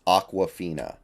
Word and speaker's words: Aquafina: water um basically um it's like Aqua it's like awkward the first half is spelled like awkward so it's Aquafina uh didn't even know